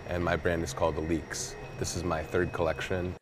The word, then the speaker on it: ALYX: 没错，我也这样觉得，就很直觉把那个 Y 当成 E 念，但后来才发现应该念作 Elix。